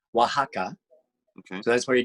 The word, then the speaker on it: Oaxaca: took me forever to figure out how to pronounce the name oaxaca okay so that's where you did the recording